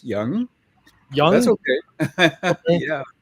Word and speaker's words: Yang: yeah yeah can say Yang you know apparently uh the spelling you know it's pronounced young that's okay yeah it's y a n g and apparently the proper pronunciation is Young okay okay so got